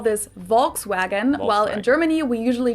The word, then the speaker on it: Volkswagen: be pronounced Volkswagen and Volkswagen so just imagine that it was spell with yeah so the E the V basically you pronounce as a f and the W is a v Volkswagen I'm going to